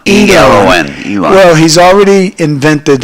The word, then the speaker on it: Elon: Leon, is that how you pronounce Elon, E-L-O-N, Elon.